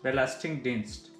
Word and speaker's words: Belastingdienst: Belastingdienst. Here G is generally pronounced as k, k. It's like a hybrid between, like a mid between k and h. So it's like kh.